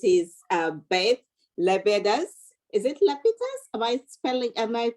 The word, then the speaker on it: Lapides: I say Lapides. I say Lapides. My family says Lapides.